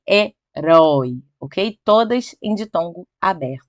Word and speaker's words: herói: Você fala herói, não herói. Certo? Então, olha só, todas essas ainda continuam sendo a última sílaba mais forte. E temos aí, ó, anéis, chapéu e herói, ok?